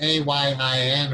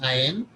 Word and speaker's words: Ayin: don't pronounce it right, it's A-Y-I-N or A-I-N, Ayin.